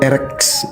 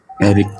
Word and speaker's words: Erik: Benar kan bang nama bang Erek? Itu kan bang cara bacanya? Iya, Erik. Oh Erik ya, oke. Erik. Harusnya pakai I itu Erik.